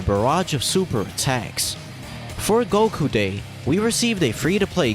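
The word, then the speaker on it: 五: The numbers five and nine in Japanese are pronounced go and kyu respectively, which combined sound like Goku.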